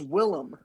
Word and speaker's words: Willem: with like william defoe he says his name's william his government it's willem no his government name's